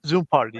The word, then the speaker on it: Zoompardy: How is this Zoom party? So it's like like Jeopardy. So party right from Jeopardy. Just take the geo out and put Zoom on there.